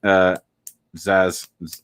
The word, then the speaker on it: Zaz: Yeah, Team Zaz. I think it's Zaz. Technically, I think it's Z-A-Z or Z-A-A-Z, not A-Z-Z-A. At least in this one, that's how they say it.